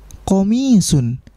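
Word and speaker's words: قَمِيصٌ: Komisun, mimnya dipanjangkan. Komisun, bukan nanti komisun atau komisun, bukan, ya. Tetapi dipanjangkan di mimnya, komisun.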